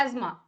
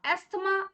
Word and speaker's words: asthma: क्या है बच्चे, क्या नाम है इस डिजीज का, एस्मा। एस्थमा is not the correct pronunciation, so we have to take the correct pronunciation, that is the asthma.